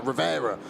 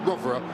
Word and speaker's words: Rovera: It's a shame we've been saying his name wrong for so long, isn't it? Because Rivera sounds much faster, but Rovera, as we've been told this season, is how it's pronounced in his native tongue, and been strong again